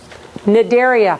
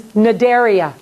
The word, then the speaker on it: Cnidaria: This is Cnidaria. So when a C is in front of an N, just like a K in front of an N, you don't say it.